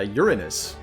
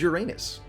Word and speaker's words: Uranus: name would be uh uranus which is how some astronomers prefer that you say it because they get a little upset when people giggle at their chosen field